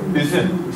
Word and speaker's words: Üzüm: What about Üzüm, perfect. Üzüm. Ü sound is the hardest sound.